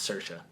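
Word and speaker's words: Saoirse: s a o i RS e and it's pronounced cersa I don't know how the hell you do that but okay um it it looks good cersa ronin's A great actress um anyway next category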